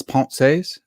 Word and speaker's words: Pensées: I know that it's Pensées.